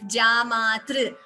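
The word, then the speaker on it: जामातृ: Like I am pronouncing it, Jamatru. So Matru, Pitru, all those words, this is Tru. So T plus R. So in the Swara chart, if you remember the first 2 days we learned A, I, U, R. That is the R here. So that T plus this Swara R gives you this Gunitaksharam. Tr, Matr. That's how it is pronounced.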